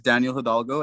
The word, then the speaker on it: Daniel Hidalgo: points there but uh yes my name is daniel hidalgo and you did pronounce it correctly um and i founded community